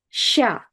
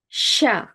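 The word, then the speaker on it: ша: Ч, Ч, Ш, Ш, Sha. Sha. It's probably hard to hear the distinction between these two sounds, but the letter sha starts with the same sound as the word Chicago when Midwest people pronounce it.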